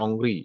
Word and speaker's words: Henri: Bukan Henry, kalau Henry berarti orang sejarah nih, kalau Henry bacanya. Oh, kalau ini adalah Prancis bacanya adalah Henri ya, Henri Cartier-Bresson.